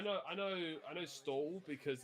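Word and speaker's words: Stawell: so well in Victoria it looks like it's pronounced stat well oh stole that well and it's proud I've only been to Melbourne once I was like so I I know I know I know stall because it's on the road to Melbourne from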